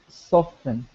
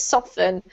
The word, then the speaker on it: soften: I prefer soften. Unfortunately, that one's not a choice, Hussein, because you have to pronounce this soften. Okay. Soften is not a word, okay?